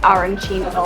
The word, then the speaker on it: arancino: If you're in Catania or other parts of Italy, or Sicily, I guess, it's arancino or arancina. If you say it wrong, you will get in trouble, so make sure you get it right.